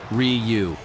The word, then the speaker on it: Ryu: Someone told me that Ryu is actually pronounced R-I-U, but I couldn't say it because it forced me to spell the word instead of pronouncing it.